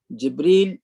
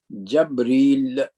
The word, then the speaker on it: Jibreel: Jibreel in the languages of Al-Hijaz, it is called Jibreel. And according to some other, it is pronounced as Jabreel. And in the language of the tribe of Qais and Tamim, it is Jabraeel.